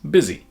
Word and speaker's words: busy: became I, giving us busy. Finally, when spelling was standardized, the busy pronunciation was most common. So even though the spelling isn't what we might expect, the current pronunciation of the word is busy.